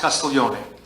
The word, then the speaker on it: Castiglione: It's pronounced Castiglione. That's Leon.